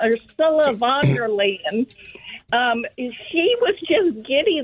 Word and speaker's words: Ursula von der Leyen: Ursula von der Leyen.